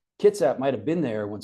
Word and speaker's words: Kitsap: 1880s, he said that Kitsap was pronounced as if there was no I. It'd be like a small K apostrophe T and then emphasis on the second syllable. So Kitsap.